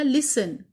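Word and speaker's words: listen: एक हमने लिखा लिसन, कैसल मीन्स किला, लिसन मीन्स सुनना। तो ये दोनों वर्ड्स हैं जिसमें हमने टी साइलेंट किया है, जैसे कि हमें एग्जाम्पल में दिया गया था।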